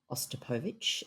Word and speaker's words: Ostapovich: Firstly, you did pronounce her name correctly, Freya Ostapovich, and I had the joy of sitting next